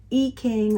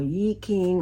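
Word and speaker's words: I Ching: There's another divination system that comes out of China, ancient China, and it's called I-ching or Yi-ching or the Yi. There's different ways to pronounce it, but it's in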